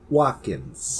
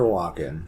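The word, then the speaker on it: Walken: are it's me Christopher Watkins Watkins is that spelled with a t Watkins uh and I also add an S it's Christopher Walkin oh my gosh I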